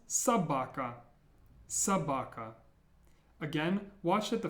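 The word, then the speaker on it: собака: more words how about this one this is pronounced Sabaka Sabaka again watch that the first or is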